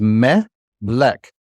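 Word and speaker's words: מלך: So the way we'd pronounce this is melek. If you were to clap, like when you did clapping for syllables as a kid, melek.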